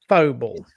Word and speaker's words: Faux Ball: The Folks Ball, the Falls Ball, the Fable. How do we do it? Balls Ball. Faux Ball. French. Faux. We're going to be appearing at the Faux Ball.